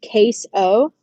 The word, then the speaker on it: Caseoh: My Twitch streamer of the week is going to have to be a guy named Case O. If you're looking for him on Twitch, it's spelled Caseoh.